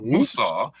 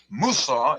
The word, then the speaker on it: Musa: Musa is the Arabic pronunciation of Moses.